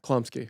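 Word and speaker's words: Chlumsky: Klumsky. Klumsky.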